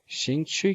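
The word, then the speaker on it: 兴趣: शिंग छुई क्योंकि दोनों पे आप देखिएगा फोर्थ टोन है, तो दोनों डिसेंडिंग ऑर्डर में हमारे पास ऐसी प्रोनाउंसिएशन आएगी शिंग छुई.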